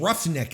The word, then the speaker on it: roughneck: Maybe I can't believe roughneck is easier but the GH supposed to be an F sound like come on we're